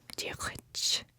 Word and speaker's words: Diolch: To say hello in Irish Gaelic is Diolch. Diolch. Now that one's a little tougher, so I would break it down as Diolch, and then just do a more throaty GH.